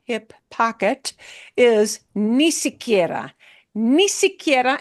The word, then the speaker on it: ni siquiera: Ni siquiera, and it'll be said ni siquiera, and it's going to sound like one word when people say it.